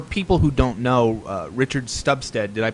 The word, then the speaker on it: Stubstad: Now, for people who don't know, Richard Stubstad, did I pronounce that right?